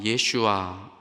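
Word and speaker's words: ישוע: 그러나 또 한편 예수님의 본디 히브리 발음 예슈아, 이거를 받아들인 메시아닉 주들, 유대인들은 이렇게 주님을 높여요.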